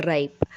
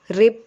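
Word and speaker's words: ripe: This mango is over राइप. यहाँ पर की जो प्रोनाउंसिएशन है वो है राइप. रिप बोल देते हैं कई लोग इसको, और मुझे नहीं पता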